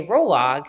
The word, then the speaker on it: rolag: I am making Roblox so a roll log is just like kind of like the word sounds you roll fiber into a log but it's spelled r-o-l-a-g so this is a